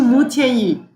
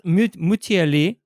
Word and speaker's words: Mutianyu: So, but So okay, so you will go to Mutianyu. okay, I need to find out. So that's Mutiali.